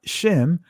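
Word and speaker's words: שם: our reputation and what the uh that's the hebrew word sham in them israeli language is pronounced shem but to what completely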